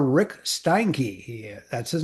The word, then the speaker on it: Steinke: Go to Rick Stankkey and it's St I Nke Stanky pronounced Stany.